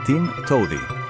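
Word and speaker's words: TMTOWTDI: En inglés, There's more than one way to do it, que se pronuncia Tim Towdy, y se escribe T-M-T-O-W-D-I.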